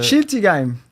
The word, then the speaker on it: Schiltigheim: At you're going to pronounce this better than me. Shiltingham? What's the? Schiltigheim.